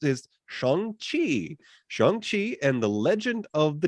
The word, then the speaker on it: Shang-Chi: it, so trust me, the way this is pronounced is Shang-Chi and the Legend of the Ten Rings.